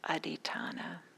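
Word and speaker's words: adhiṭṭhāna: is the parame of aditana aritana it rhymes with satypatana some of you may know the sati patana the four foundations of mindfulness aditona has that same ending tonic had like foundation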